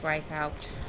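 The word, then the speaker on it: Weisshaupt: not pronounce the h I know people who want to pronounce it the German Way with a v no it's Weiss helped ooh another memory oh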